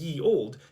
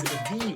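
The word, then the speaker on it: ye olde: never actually pronounced as ye old, it was always the old. The letter Y stood in for the TH sound. That means that if you ever pronounce the old as ye old, you're actually performing a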